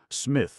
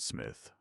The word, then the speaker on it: Psmith: The P is silent.